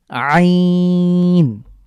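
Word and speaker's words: عين: এক এরপরে আরেকটি গুরুত্বপূর্ণ হরফ হলো আইন আ আমি যখন এটা উচ্চারণ করব তখন আমাদের আমার কন্ঠের মাঝখানে চাপ পড়বে আইন আ যেভাবে আমরা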